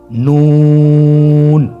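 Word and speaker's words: ن: আপনারা জিহ্বার আগাটা তার বরাবর উপরে তালুর সঙ্গে লাগিয়ে উচ্চারণ করুন এবং আমার সাথে বলুন নুন। আবার বলুন নুন।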